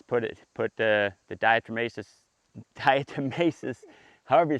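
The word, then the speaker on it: diatomaceous: How do you dietmacous? Dietmacious.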